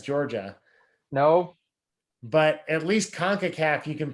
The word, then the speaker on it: CONCACAF: show for you tune in um concacaf it's concacaf right you got it nailed all right i